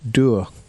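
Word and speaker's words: Dour: Dur rhymes with Moore.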